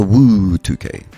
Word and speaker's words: WUU2K: mouthful I call it I call it the woo 2K Woo is that how you say it I guess so yeah okay that's good to know you got to told